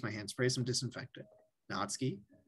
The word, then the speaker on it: Natsuki: here's the thing right you can either say it not sookie or natsuki right i just go natsuki right uh but if you're saying natsu it's still two syllables so just say natsuki right you know they're